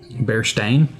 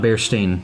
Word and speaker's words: Berenstain: person would e-i-n-d-i-n yeah it's actually a ion bear stain it's always been okay always not bearstein no stein steinstein yeah but